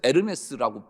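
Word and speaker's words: Hermès: 프랑스어로 애치는 묵음이에요. 그래서 에르메스라고 발음도 하죠.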